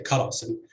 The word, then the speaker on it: karasim: syllable is heavy, and you would say karasim with stress on the first syllable, even though the second syllable is open with a long vowel, and you would expect it to attract stress. Okay.